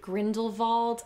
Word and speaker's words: Grindelwald: I feel like some characters pronounced it Grindelwald. I don't feel like saying it that way.